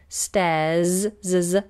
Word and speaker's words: stairs: on the end so you normally hear stairs stairs with a z sound stairs and this is